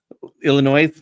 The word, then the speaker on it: Illinois: You didn't pronunciate the S. Illinois.